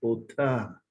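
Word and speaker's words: אותה: Ota. Uno tiene que, la pronunciación así, como si estuviera sacando el aliento.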